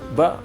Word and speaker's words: ba: Kemudian ini bacanya bukan ba, tetapi ba ada panjang sedikit. Nah, panjang kemudian diakhiri dengan hamzah.